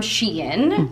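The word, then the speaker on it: Shein: ivory moment here so the sweater is from sheen you can say it correctly now that someone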